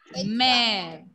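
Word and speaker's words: mère: When laxograph will come along with letter E, pronunciation will be English alphabet letter A sound. A sound. A. A. A. O. A. Example. Mer.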